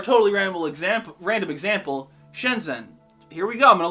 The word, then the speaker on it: Shenzhen: i'm saying this properly how do you say it what's that doing there can you just ignore the h spoiler warning you can't which is why i'm definitely saying this wrong is its own sound in chinese we don't have to